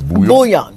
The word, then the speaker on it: bouillon: I had my first trial of the bouillon.